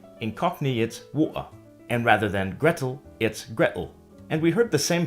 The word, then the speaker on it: Gretel: would be water incognates and rather than Gretel it's Gretel and we heard the same thing before in the word bottle which is pronounced bottle other Rhymes reference celebrities and influential